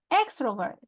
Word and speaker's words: extrovert: What about extrovert?